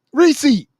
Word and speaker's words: receipt: Receipt. He's saying receipt. First of all, he's saying it in two separate syllables, like breaking it down and it's called pronunciating. Receipt. It got two syllables.